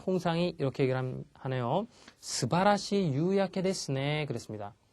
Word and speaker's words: 夕焼け: 다음에 나와 있는 게 유야케, 유가 깁니다. 발음이 장음이고요. 주의를 해주십시오. 자, 유야케 그러면 저녁 노을입니다.